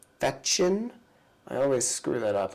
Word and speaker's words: Fechin: I love him so much that I say his name wrong. Feshin. Not Feshin, it's Nikolai Fechin.